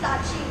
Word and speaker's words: Sachi: Sachi. SACHI. S-A? CHI. And what do you pronounce it?